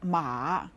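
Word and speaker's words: 妈: syllable is based on Ma in this character the sound is said with the first tone and it means Mother Ma you can see how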